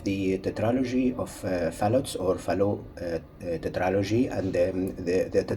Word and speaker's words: Fallot: it in english but we say tetralogy of fallow because fallow was a french physician so it's a pro a proper pronunciation is fellow so the trilogy of